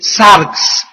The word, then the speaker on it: sarx: La palabra carne es una palabra griega que se escribe sarx, S de Samuel A-R-X, sarx.